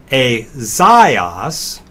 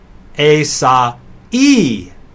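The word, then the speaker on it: Ἠσαΐας: So the Greek name for Isaiah is not Azaios, but there's an extra syllable here. Asa-e-os. The diiresis is saying the alpha iota is not a diphthong. Pronounce those vowels separately.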